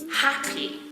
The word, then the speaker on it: happy: just want to be happy the stress in the two-syllable word happy is on the first syllable you can make it